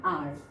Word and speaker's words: hour: So in the first context I said an hour because H is silent over there.